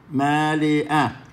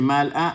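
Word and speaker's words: מְלֵאָה: Mire esa palabra male'a. Tenemos una sheva que está encerrada entre 2 ta'amim. Tiene antes un ma'amid y después tiene un ma'amid. Cada vez que tenemos una sheva encerrada entre 2 ta'amim, la sheva se lea con vocal E. Male'a. No se dice mal'a, male'a. Ha'ares kenyaneja, hammelech, hammeromam.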